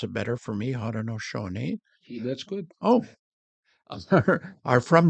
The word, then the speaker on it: Haudenosaunee: You're going to have to pronounce it better for me. Haudenosaunee.